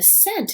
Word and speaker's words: scent: for the week is when the s and the c are together but the c doesn't make a sound okay so it's like the c is silent and the s makes the sound like oh i put a candle on and the scent is really beautiful it smells like flowers